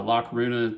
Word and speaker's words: La Coruña: lock Runa Spain uh Laruna pronounced in Spanish and then the galatian pronunciation is araruna so you might see